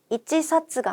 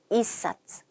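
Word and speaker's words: 一冊: 자, 한 권은요, 이치사츠가 아니고 이사츠. 8권은요, 핫사츠. 10권은요, 주사츠 혹은 지사츠라고 읽을 수도 있다라는 요 부분만 주의를 해서 암기를 하시면 조금 편하게 외워나갈 수 있을 것 같아요.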